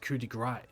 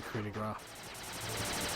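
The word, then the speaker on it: coup de grâce: Some people actually pronounce it coup de grace. Coup de grace. It's a coup de gras.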